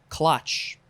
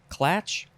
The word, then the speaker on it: Klatsch: Coffee clutch. Now, how do you say that? You could say clatch, clutch, clitch.